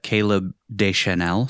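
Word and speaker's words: Caleb Deschanel: This was shot by her old pal uh Caleb Desel.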